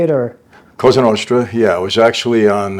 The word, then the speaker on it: Cosa Nostra: I believe you were inducted would you say Laos orra is that how you say it or Ken ostra yeah it was actually on uh October 31st